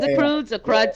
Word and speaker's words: The Croods: are funny okay um is it the crowds The Croods did I say it did I say it right oh The Croods The Croods is it The Croods yeah yeah they're absolutely hilarious